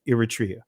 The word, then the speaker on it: Eritrea: That's how you pronounce it. Eritrea.